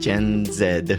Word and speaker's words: Gen Z: the podcast, which is dealing with Gen Zed or Gen Z if you're in the sort of American pronunciation.